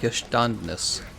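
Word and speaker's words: Geständnis: You pronounce it like Gestandnis.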